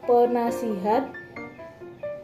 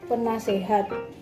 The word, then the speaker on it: penasihat: Contohnya pada lafal baku penasihat menjadi lafal tidak baku penasehat. Penasihat menjadi penasehat disebabkan oleh pengaruh dari bahasa Jawa karena pada bahasa Jawa vokal i diucapkan menjadi e dalam keadaan tertutup.